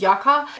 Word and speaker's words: Yucca: palette or Yucca palette I've heard people saying the right pronunciation is Yucca it came out with the yaka palette of course it